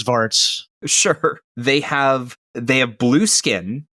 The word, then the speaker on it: Svarts: Good luck pronouncing that. And if you've seen it's Svarts.